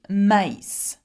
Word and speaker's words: maïs: So, for example, a good example would be maïs, maïs, okay? So if I have maïs, have a look, M-A-I, tréma, S. Now, I pronounce this word not me, but maïs.